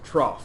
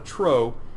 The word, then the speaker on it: trough: It's not a tro. He's like, yeah, but that's spelled just like though. It's like, yeah, that it is. But it's not said that way. It's different. Believe me, it's trough, just like enough, right?